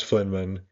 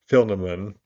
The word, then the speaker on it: Filaman: it, the crystalline mountain, Mount Flynman. That's not how to say it again. I've made a sword to say Mount Filaman slowly peaked into view.